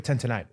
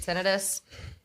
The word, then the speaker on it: tinnitus: Most people say tinnitus, but fun fact, itis means inflammation, and tinnitus is not inflammation. So Yeah, that's science. technically, tinnitus.